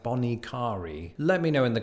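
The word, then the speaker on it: Bonnet Carré: that's not it so the locals go with something like Bonnie Cari let me know in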